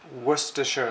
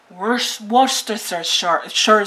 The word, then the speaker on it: Worcestershire: Han, can you tell us how to pronounce correctly that word? Worcestershire sauce. Worcestershire sauce. ¿Se dan cuenta? No es tan fácil, pero say it again, honey. Worcestershire. Worcestershire.